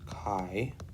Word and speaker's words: chi: so you want to read chi so this this symbol right here is kai and we often say chi square distribution that's how we pronounce it or we could write